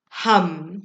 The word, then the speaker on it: ham: chakra is hum now it's spelt ham h-a-m but the pronunciation is hum so if you are